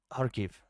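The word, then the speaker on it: Kharkiv: Like this is Hariv, the city I was in. It's a Okay, enough enough of the Raz. I think just Hark is fine. Harve. Yeah, that's how it's pronounced.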